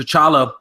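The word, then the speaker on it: T'Challa: and with us to chala actually he said the T is silent anyway with him being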